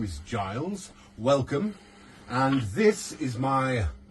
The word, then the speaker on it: Giles: today his name is Giles a soft G Giles uh Giles if